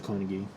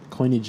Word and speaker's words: Coinigy: the upside is the Carnegie coin of gee I'm sorry I keep saying Carnegie but coin eg is actually the proper pronunciation I believe from one